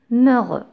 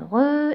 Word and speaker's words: heureux: Philippe est un homme heureux. Je fais la liaison dans ce cas parce que le H de heureux, c'est un H muet.